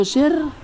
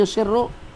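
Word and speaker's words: يُسِرُّ: Alladhi yusir, yang beliau simpan, khairu min alladhi yu'lin. Nah, itu betul bacanya macam tu. Kasih baris. Alladhi yusirru, ay alladhi yusirhu Umaru, yang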